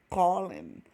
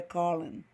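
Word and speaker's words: colon: Prosseguindo aí, gente, 2 pontos, ó, Colin, Colin, Colin. Engraçado, né? O O fica com a pronúncia meio é Colin.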